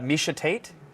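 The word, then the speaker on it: Miesha Tate: and it's part of the job and uh misha tate if you pronounced it wrong i would have loved that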